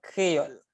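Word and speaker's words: Kreyòl: Alors, créole, le son E s'écrit juste E, sans accent. Et le son A s'écrit O accent grave. Ça donne K-R... O accent faux, oui. Accent fausse. Accent fausse. Alors, ça donne K-R-E-Y-O accent fausse, L.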